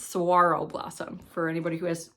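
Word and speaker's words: saguaro: Um it the G is silent. It's sarro blossom for anybody who has trouble trouble pronouncing that.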